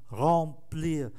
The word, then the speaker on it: remplir: Em ở đứng trước P, phát âm là N, remplir.